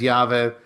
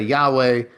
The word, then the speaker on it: Yahweh: I I pronounce it as Yave. Some say Yahweh. Um, in a traditional Jewish setting, you would never say the name out loud like that.